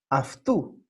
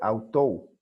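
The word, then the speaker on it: αὐτοῦ: Y se pronuncia, como vamos a ver hoy, aftu. Y les voy a explicar por qué. Aunque se escribe autou, ¿no?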